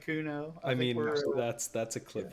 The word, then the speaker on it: Cuno: Two syllables, they all scan the same. Yahweh, Popeye, Cuno.